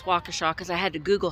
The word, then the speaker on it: Waukesha: I'm in Waukesha Wisconsin and I know it's Waukesha because I had to Google how to pronounce it and Waukesha Wisconsin was known for